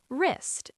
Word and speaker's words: wrist: Wrist.